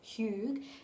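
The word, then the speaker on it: hygge: last year and it's I think it's pronounced hug and it's actually um a Danish word for cozy and this is something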